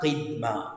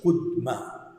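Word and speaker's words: قدمة: Alors, c'est pas ça, nous dit qui meilleure prononciation pour ça mot-là, c'est pas Qidma, c'est Qudma. C'est Qudma. Wazirahu Qudma.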